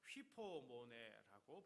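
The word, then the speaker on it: ὑπομονή: 참음, 벌써 새벽에 여러 번 나왔는데요, 휘포모네라고 발음하는데, 휘포는 아래에서라는 뜻이고요, 모네는 머무르다 이런 뜻입니다.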